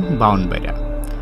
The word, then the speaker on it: ব্রাহ্মণবাড়িয়া: ব্রাহ্মণবাড়িয়ার আঞ্চলিক উচ্চারণ বাউনবাড়িয়া।